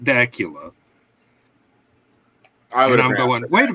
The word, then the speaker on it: Dacula: It is Dacula, not Dacula.